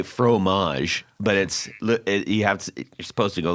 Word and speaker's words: fromage: first phrase I learned, fromage. Yes. Right now we say fromage, but you're supposed to go like fromage, right? It's the And you don't even pronounce the GE yeah, at the end.